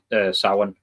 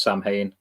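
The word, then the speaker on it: Samhain: The MH in the middle is like a W.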